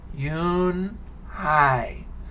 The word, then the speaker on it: Unhei: hai said her name again slowly and clearly yoon hi soon the kids began to say it better